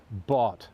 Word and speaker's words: bought: written is very difficult, as in the word bought, for example. It sounds like it should be B-O-T. It's actually B-O-U-G-H-T, so, which seems crazy, doesn't it?